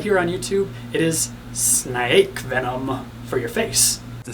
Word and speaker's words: Syn-Ake: It is Syn-Ake venom for your face. The spider. Syn-Ake, Syn-Ake. I guess it's probably pronounced like snake.